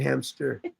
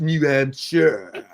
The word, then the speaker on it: New Hampshire: She said I'm saying hamster. New Hampshire. She going British on me again over here. It's pronounced New Hampshire.